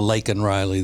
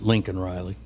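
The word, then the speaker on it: Laken Riley: down I saw that instead of lak Riley that that Biden pronounced it Lincoln Riley certainly sounded that way yeah oh she was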